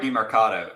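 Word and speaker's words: Demercado: Yeah, Emari DiMercato.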